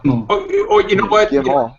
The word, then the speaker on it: Guillemot: On February 11th, Guillermo? Yves Guillemot. Oh, you know what? Guillemot.